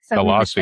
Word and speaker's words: Colossae: Colossae, that rhymes with hossy or flossy.